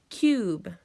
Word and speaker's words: cube: say it with me cube it sounds like it starts with aq but it does not it starts with the C and it has the long you because it has a silent e so let's look